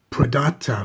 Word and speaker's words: Pradata: has a peculiar name Pata prata or something like that it's spelled p r a d a t a